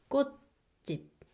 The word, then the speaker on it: 꽃집: If B is the final consonant, it makes P sound. So the second syllable makes 집 sound. So it's like 꽃집, 꽃집.